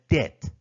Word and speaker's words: debt: required payments on a debt then a default occurs here we have debt B is silent here deposit refers to